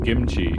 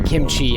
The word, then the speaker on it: kimchi: I always call it kimchi, right? Like with a K. Mhm. But I've heard native Korean speakers talk about it and they'll spell it with a K, but when they say it, it sounds like kimchi with a G to me.